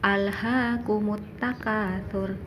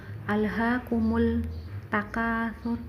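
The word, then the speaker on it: ألهاكم التكاثر: Begitupun alhaakumut takatsur, lamnya seperti tidak ada kan? Alhaakumut takatsur, tidak boleh dibaca alhaakumul takatsur, tidak boleh.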